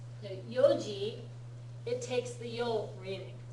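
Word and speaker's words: 四時: But when you write 4 o' although you write it like yongji it's always pronounced yoji.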